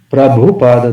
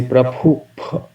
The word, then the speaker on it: Prabhupada: And devotees tend to say, instead of Prabhupada, they say Prabhup, because the rule is that if you pronounce B and H after B, then B turns into P.